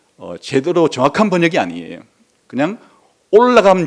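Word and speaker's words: עולה: 번제라는 이로 번역된 원래의 단어가 올라라는 말이에요 올라 히브리어로 올라 근데 왜 지금 이게 제가 이거를 발음까지 이렇게 말해 주는 거니까 신기하게도 우리나라의 올라간다는 말과 똑같기 때문이에요 기억을 돕기 위해서 제가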